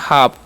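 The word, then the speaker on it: half: अब लिखा हुआ है HALP, एच का उच्चारण ह करेंगे, ए का आकार, एल का उच्चारण साइलेंट करता है, एफ का उच्चारण प करता है। इसे हम पढ़ते हैं हाफ।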